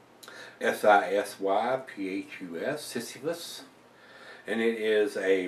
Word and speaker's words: Sisyphus: I guess I'm pronouncing that right. S-I-S-Y-P-H-U-S, Sisyphus, and it is a barley wine, and